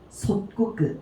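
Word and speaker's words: 即刻: 얘가 고즉 얘를 음독으로 읽어주게 되면은 속그예요. 그래서 만약에 다른 단어랑 붙었다 라고 하게 되면은 속그라고 읽어줘야 되거든요. 근데 지금 보시게 되면은 이 속그라는 애가 카행과 만났죠. 꼬끄라는 애랑 만나다 보니까 얘가 지금 어떻게 바뀌었어요? 솥꼬끄 이렇게 바뀌었죠. 그래서 지금 몇 번 규칙이 들어갔다?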